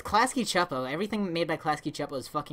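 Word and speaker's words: Klasky Csupo: chapo everything made my klasky chapo is like shitty looking Oh klasky q po - PO it's chapo well it could be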